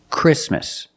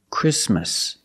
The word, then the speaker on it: Christmas: we don't say Christmas the t is between consonants so it is silent link the sound with the um Christmas Christmas and it's not